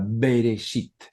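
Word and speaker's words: בראשית: en el principio berecita algunos colocan una e es una e casi muda berechit así sería la pronunciación Acá está escrito desde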